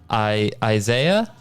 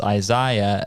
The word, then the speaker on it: Isaiah: we were talking about the pronunciation of Isaiah, or like we would say in the word said, or versus Isaiah as they say in England, they say sighed as well.